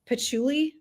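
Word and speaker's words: patchouli: the bottom notes it's pachuli.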